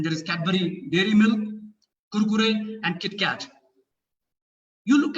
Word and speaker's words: Kurkure: They cannot pronounce the sound of R. They say Kulkule or Kurkure.